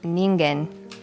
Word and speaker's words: Ningen: I think Elisa can help us out with the proper pronunciation of this name. So it is Japanese, and it's Ningen.